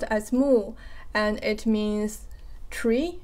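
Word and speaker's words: 木: and half of this part, this character is pronounced as mu, and it means tree, like one tree.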